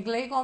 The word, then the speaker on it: Gleicon: É Gleicon mesmo, né? A pronúncia é da mesma forma que se escreve.